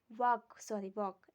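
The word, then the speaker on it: walk: जैसे एग्जाम्पल में हम देख लेते हैं वॉक, वॉक एल साइलेंट रहता है।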